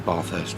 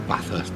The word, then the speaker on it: Bathurst: in or bath in Bathurst or Bathurst depending on where you are uh if you go with the a sound you're from up North if you do it